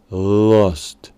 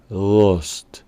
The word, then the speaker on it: lust: letra U del comienzo no se pronuncia exactamente como U, sino como un sonido tipo AU o UA. Lust, lust.